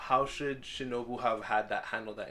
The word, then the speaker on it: Shinobu: Shinobi, but Shinobu.